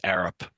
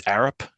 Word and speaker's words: Arup: I'm a civil engineer with Arup, and I am the civil engineer hired by the firm for the project here.